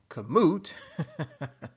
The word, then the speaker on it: Kamut: little bit of background information kamut and it's pronounced kamut is a trademarked name given to harassin wheat